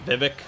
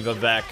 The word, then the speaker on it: Vivec: sort of correct myself I've always pronounced his name Vivek for whatever reason but that is not how it's pronounced it is definitely bovec I had to relearn